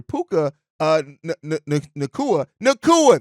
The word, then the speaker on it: Puka Nacua: Puka last year, and I said Nuka earlier, Puka Nacua, that's how you say it.